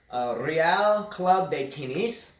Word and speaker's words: Real Club de Tenis: And the club there, which is pronounced, here's my other Spanish lesson of the day, Real Club de Tenis.